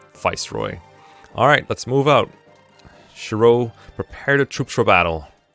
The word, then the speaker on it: Shiro: It's more meant to be pronounced Shiro, I believe. Like so. Okay. Not Shuru.